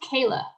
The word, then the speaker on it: Kier-La: how do you say is it la it's pronounced kayla no kidding yeah it's actually pronounced a lot